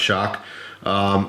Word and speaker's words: XOC: of the crkt shock ok XOC pronounced shock this was their you